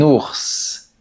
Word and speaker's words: ours: Généralement, on ne la prononce pas. Par exemple, on dit j'ai un cours de français. Cependant, on dit j'ai vu un ours.